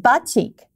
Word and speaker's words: batik: they call it batik.